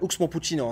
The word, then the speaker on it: Oxmo Puccino: Yani Oxmo Puccino aslında okunuşu.